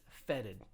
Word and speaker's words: fetid: clean or dirty um but i'm not really sure how to pronounce it putrid feated vetted let me check okay internet says feted and i've never used